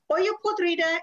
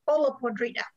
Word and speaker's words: olla podrida: it as well um oyo podrita is the proper spanish pronunciation of the name of this dish however sometimes i will probably slip because english is my first language and say hola podrida oyo podrida was a